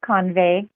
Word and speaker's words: Convey: know this by now it's con it's convey convey okay emphasis on the first little all right great